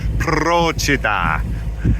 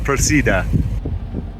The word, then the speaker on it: Procida: just leaving the island it turns out I've been pronouncing it wrong I asked Google and it tells me it's pra so it's pra not proa there is a big